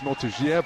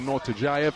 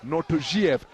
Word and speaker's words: Nortojiev: I asked his team whether it's Nortojiev or Nortojayev, and they informed me, in no uncertain terms, that it's Nortojiev is the correct pronunciation.